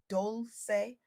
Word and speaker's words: Dolce: I'm your host, Dolce, pronounced Doulce, like sweet softness whispered in French.